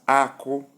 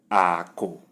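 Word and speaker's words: akụ: Number 1, we have high, high, which is pronounced as Ako, Ako, nuts, Ako. Number 2, we have low, low, low plus low. The sound is Ako, Ako, riches, Ako. Number 3, we have low and flat, which is pronounced as Ako, Ako, arrow.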